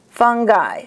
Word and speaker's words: fungi: And the I at the end of a word is pronounced as an I, like bronchi, fungi, nuclei.